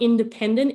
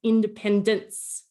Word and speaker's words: independence: celebrated pronunciation of independence the nce at the end it's not independent it's independence so that's that really